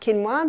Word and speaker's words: quinoa: become familiar with it's spelt quinoa but it's pronounced quinoa the aztecs love their quinoa aussies are starting